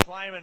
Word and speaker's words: Klieman: how quickly that higher was named and the cleamen is that how it's pronounced great question yeah crisp clean minute Klieman to beat k-state is a player and as